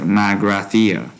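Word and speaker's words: Magrathea: Okay, so they say Google says it's like Margrathia. Margrathia.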